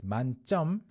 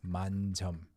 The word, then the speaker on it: 만점: And actually, full score 만점, this one would be pronounced as 만점, and 10,000 points, 만점 would be, I think it's got a space in between, and it's 만점. Voila. So full score is 만점. 10,000 points is 만점. You can actually tell the difference through pronunciation.